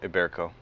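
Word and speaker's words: Ibérico: Am I pronouncing this correctly? Iberico? Yeah, Iberico.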